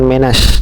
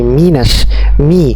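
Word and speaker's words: مِنَ النَّاسِ: Mi, ingat kaidah pengucapan kasroh, jangan me, bukan menash, tapi minash.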